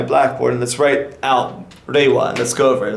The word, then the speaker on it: Reiwa: mixing R and L, but R in Japanese is actually sort of like a hard D sounds, like Reiwa. Like Reiwa, right?